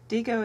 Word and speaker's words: Diigo: DGO is spelled D I G O.